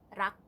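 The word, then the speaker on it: รัก: 사랑이라는 말에는 락. 락, 어. 락, 락. 그 내 이름 그 락. 아 진짜? 발음 똑같아.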